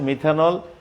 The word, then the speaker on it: মিথানাল: Carbon পরমাণু বেশি আছে, যার প্রেক্ষিতে এদের নামের উচ্চারণটাও একটু ভিন্ন রকম হয়ে যাবে। যেমন CH3 বন্ড CHO, এখানে OH থাকাতে হয়েছে মিথানল, এখানে অ্যালডিহাইড, এটা অ্যালডিহাইডের রূপান্তর হয়ে গেছে, এটা হবে মিথানাল।